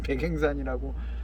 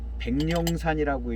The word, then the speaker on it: 백앵산: 재력도 안 되고 그래서 마침 백행산이라고, 저는 이 차를 백령산이라고 읽었어요. 이 차 처음 소개하고 팔 때 백령산이라고 소개를 해서 팔았거든요. 그래서 백령산으로 알고 있었죠. 그러다가 얼마 전에 백행산하고 한자가 글자가 똑같더라고요. 그래서 아, 이게 백령산이 백행산이로구나.